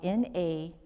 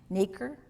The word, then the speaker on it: nacre: It's spelled Nacre. And if you're a teacher or something, you may know this. I did not. But it's pronounced nacre.